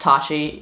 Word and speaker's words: Tati: I like how the logo came out, and my name's Tati, but it's pronounced Tachi.